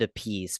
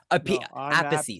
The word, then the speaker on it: Appice: um your last name a piece you you pronounce it a piece but your brother pronounced apathy so our apathy sorry you pronounce it apathy